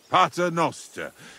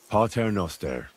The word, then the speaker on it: Pater noster: You're saying it wrong. Listen. It goes like this. Pater noster, qui es in caelis, sanctificetur nomen tuum.